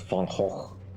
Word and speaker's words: Van Gogh: of our local national, our famous national painter Van Gogh, which is not how you pronounce that, but still trying to explain to foreigners that Van Gogh is the way you say it.